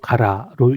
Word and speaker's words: 辛: 진하게 묻어 나잖아요 그래서이 일본어에 가라라고 하는 발음은 매울 신짜 독 가라로 읽습니다 나라 한자 역시 가라로